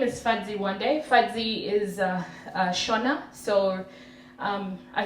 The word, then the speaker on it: Whande: Fadzi means happy, and one day is pronounced one day, not 2 days.